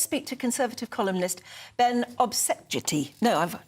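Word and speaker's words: Obese-Jecty: Let's speak to Conservative columnist Ben Obsejeti. No, I've not said it right. You got it right. Did I get it right? Obsejeti.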